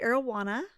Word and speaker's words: Arowana: I went to Camp Arowana, which is rhymes with Camp Oh, Marijuana.